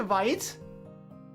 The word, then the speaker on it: Vite: Vite is French, so it's pronounced Vite.